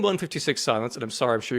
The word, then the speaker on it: 156/Silence: do you say it because they read it as 156 over silence like they're doing a blood pressure reading that's not correct is it surely no